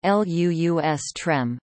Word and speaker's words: lustrum: the reign of Vespasian the word should not be confused with the identically spelled but differently pronounced lustrum Lu us trem a haunt of wild